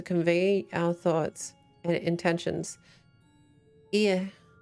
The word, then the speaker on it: Ea: When the vibrations of vocal folds was still required to convey our thoughts and intentions, ear, I believe, was the pronunciation used when referring to our people.